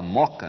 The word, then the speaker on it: Mooca: A gente fala Moca, né? Porque a gente já fundiu os dois Os... Mas a gente escreve com 2 Os, Mooca, né?